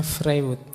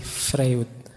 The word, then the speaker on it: Freud: Ini tulisannya Frewood. Biasanya kalau mahasiswa baru membacanya masih frywood gak apa-apa.